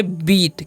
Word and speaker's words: beat: और BEAT है तो इसे हम क्या पढ़ेंगे, इसे हम पढ़ेंगे बीट। क्या पढ़ेंगे, बीट। क्योंकि दीर्घी उच्चारण से थोड़ा देर तक पढ़ना है।